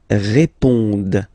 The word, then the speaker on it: répondent: Ils répondent. So same thing here, classic ending, ENT, but then you don't pronounce it. Okay?